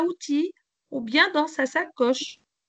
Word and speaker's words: outil: Outil, on ne prononce pas le L, hein? Outil.